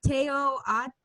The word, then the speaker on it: Teoatl: We've all gone around and around about how it's pronounced, but I want to say Teoatl. Teoatl.